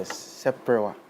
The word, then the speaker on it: seprewa: All right, so this instrument is called the seprewa. Seprewa. Yeah, so it's in 3 syllables. Okay. We have se, pre, and then wa.